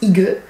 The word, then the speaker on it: Hygge: Ce mois-ci, la Beautiful Box vous propose de vivre la Idge prononcée Hygge, voilà, grâce à sa routine Hygge, composée de 6 produits.